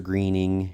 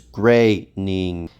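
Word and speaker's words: Groening: Relax, Mr. Greening. You still have created by credit. It's Graying.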